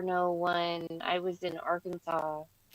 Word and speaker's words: Arkansas: I was in Arkansas. Oh, people in Australia don't like that that word Arkansas. Like that's not how it's spelled. So that's not how you say it. It should be R Kansas.